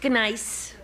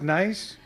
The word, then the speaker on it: gneiss: What, isn't that pronounced nice? I wanted to make sure he knew it was gneiss.